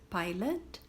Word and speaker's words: pilot: Pilot, pilot. Não tem som de O, pilot.